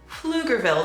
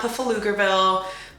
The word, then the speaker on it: Pflugerville: honestly it's really annoying it's pronounced flugerville the pea is quiet it's not buffaloogerville paflavia like it's it's flugerville flukerville i think it's